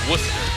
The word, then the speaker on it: Worcester: called the same thing and we say Worcester you say wer all right south